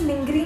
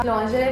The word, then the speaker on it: lingerie: बस लिंगरी में इतना ही था. Through out my child hood मेरे को लिंगरी ही आता था. लॉन्जरे बहुत बाद में ही सीखा मैंने कि अच्छा this is the actual pronunciation.